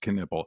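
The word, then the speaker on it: Knueppel: His name is pronounced Canipple.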